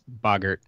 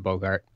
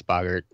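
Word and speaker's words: Boggart: us a a good explanation of why it's Boger and not Bogart okay um and yes I will agree you're correct I all that English pronunciation stuff has never been my forte at all um and I can agree with you yes it's bogert um I I I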